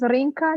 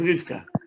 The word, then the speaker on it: Rivka: Rinka is Rivka. No, but if people call Rinka, it's not the right name called. No, they don't know how to pronounce it, but your name is Rivka.